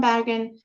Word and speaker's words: Bergen: And then from Bergen, which is the way the Norwegians pronounce it, we fly to Stockholm.